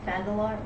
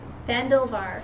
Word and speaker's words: Fandalvar: I've heard how to say it correctly today, and I've forgotten again. Fandalar? Wait. Fandalvar. Fandalvar.